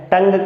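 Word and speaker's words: tongue: में क्या कहते हैं, टंग कहते हैं। तो टंग की स्पेलिंग क्या होगी, ये एक अपने आप में सवाल है। तो लास्ट में क्या होगा, GUE।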